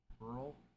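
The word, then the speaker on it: Buehrle: B U E H R L E. And we are going to look up how to pronounce this. Burl. Is it? It probably is just Burl.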